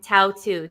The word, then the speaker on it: Tautu: And then, M-O, apostrophe O, and then Tautu, T-A-U-T-U.